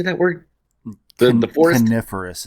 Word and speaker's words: coniferous: it and beautiful mountains and like you say canorous or how do you say that word the forest coniferous it's yeah it's a weird word yeah yeah